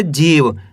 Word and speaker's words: जीव: ऐसे नहीं पढ़ना जीव, जीव पढ़ देंगे तो यहाँ पे छोटी की मात्रा का उच्चारण हो जाएगा। ये छोटी की मात्रा है और ये बड़ी की मात्रा है। अब बड़ी की मात्रा जा में लगी हुई तो खींच के पढ़ेंगे जीव।